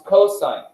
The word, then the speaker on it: cosine: sin it's sine right cos it's not cost it's cosine now there are three